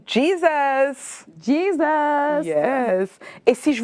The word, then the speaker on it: Jesus: Bah écoute, ça s'écrit pareil, mais ça ne se prononce pas pareil. C'est pour ça. Je comprends mieux. D'accord, d'accord. Alors Jésus se dit Jesus.